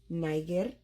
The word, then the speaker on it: niger: Now, classical Latin has a hard G. So this word, though it's spelled the same way you spell the country of Niger, which was colonized by the French, it is not pronounced that way.